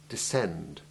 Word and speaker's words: descend: Where SC is followed by the vowels E, I, or Y, the C is silent, or rather it is the soft C merged into the similar S sound.